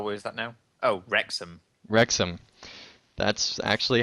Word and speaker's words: Wrexham: traveled from cardiff to wax how do you pronounce that at that rose oh what is that now oh wrexham wrexham that's actually how it looks cool sharing